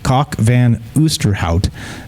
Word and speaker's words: Kok van Oosterhout: However, according to Professor Kok van Oosterhout, yes, that's real. Kok van Oosterhout is actually how you say it, a professor of evolutionary genetics at the University of East Anglia in the United Kingdom.